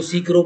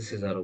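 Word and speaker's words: Cicero: ठीक है, किसी को सीकरो बोलना है तो सीकरो बोल लेना, कोई टेंशन नहीं, बस स्पेलिंग याद कर लेना इसकी, बस वो गलत मत लिखना, वैसे सिजारो बोलते हैं इसको।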